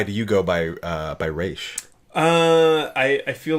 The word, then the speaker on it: Ra's al Ghul: Ghul but I'm aware the way they've played it in the arrowverse how if you're from there two rods are it's rich but the Americanized way of saying it was Arras and Oliver would come